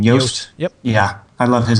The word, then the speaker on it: Yoast: I always forget how to pronounce his name. Yoast.